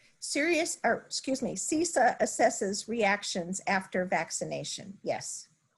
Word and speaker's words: CISA: Going back to if I pronounce this correctly, is it CISA?